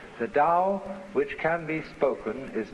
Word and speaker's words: Tao: for the Dal t-a-o pronounced Dao in the Mandarin dialect how in the Shanghai